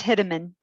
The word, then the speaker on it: Hideman: It's Hideman. Like you're gonna hit him. It's like hit a man.